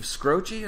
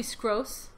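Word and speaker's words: Skroce: really his name okay how would you pronounce s-k-r-o-c-e probably scross scross not scrotchy yeah i don't think it's scroochie what what do they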